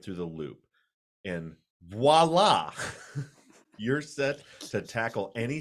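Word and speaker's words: voilà: I wouldn't have got it either, but Yeah, you would have said Viola, wouldn't you? I don't know what I would have said. Even though clearly phonetically it does not say there's an O before the I, but my brain said Viola.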